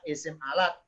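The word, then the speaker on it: اسم الآلة: Ismul alati bacanya isim alat, nama alat.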